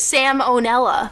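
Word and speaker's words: Sam O'Nella: My favorite YouTuber is Salmonella. No, that's his name. It's Sam Onella, Oh, like that's cute. like spelled with your name.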